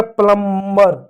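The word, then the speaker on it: plumber: जैसे यहाँ देखो एक शब्द है प्लम्बर। प्लम्बर होता है, प्लम्बर नहीं होता है, लोग बर बोलते हैं, बर नहीं होता, प्लम्बर होता है, प्लम्बर होता है, प्लम्बर नहीं होता है, बी साइलेंट हो गया।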